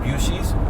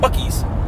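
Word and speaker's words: Buc-ee's: Texas you guys know bies um or some people like to pronounce it buis but the correct pronunciation is going to be bies uh and no it's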